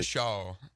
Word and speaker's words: DeBrickashaw: I hope I'm pronouncing his first name correctly. DeBrickashaw is how you pronounce it.